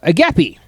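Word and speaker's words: agape: Uh, agapy. That's how you say it. A G- A P E. Um, read the article. Let me know if I'm saying any of these correctly. Agapy.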